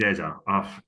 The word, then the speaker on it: Eze: I'm I'm gonna going to stick go with with Eze. Eza. Yeah, it feels Please, weird. guys, you know what we're saying, but apparently he like him saying it is Eza.